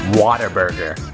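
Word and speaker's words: Whataburger: saying it right I it's actually spelled what a burger but we know for a fact it's pronounced Water Burger I might be wrong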